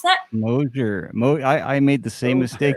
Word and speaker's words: Mosier: Jay and John, Mike and Linda tuning in from down the road in Moisier. Is that how you pronounce that? Mosier. I made the same mistake. It's Mosier, apparently.